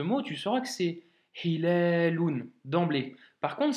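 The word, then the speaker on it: هلال: tu sauras que c'est Hilalun d'emblée. Par contre, si tu le prononces mal, tu pourrais lire halalun.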